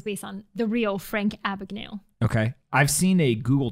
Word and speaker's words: Abagnale: Frank Abagnale.